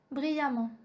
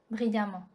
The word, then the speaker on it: brillamment: Note E-M-M-E-N-T et A-M-M-E-N-T se prononcent amant. Donc avec A-M-A-N-T. Ça c'est la prononciation. On prononce E-M-M-E-N-T et A-M-M-E-N-T comme amant. Par exemple, on a dit méchamment, brillamment, violemment, prudemment.